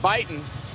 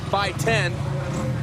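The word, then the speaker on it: Buyten: fourstroke this time Matt Bon for many years we struggled to say by 10 because that's how he has to pronounce it now he says he's okay with Matt Bon and you can tweet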